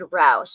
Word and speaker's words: Rausch: David Roush is spelled Rausch.